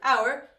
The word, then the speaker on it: our: Oh, I’m sorry our this is the same pronunciation as the time like an hour right but it's a possessive adjective.